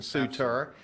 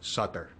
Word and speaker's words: Sutter: you are representing Captain sutor uh was it pronounced Sutter Sut is corre the Americans say Suter but the Swiss say Sut really and he was Swiss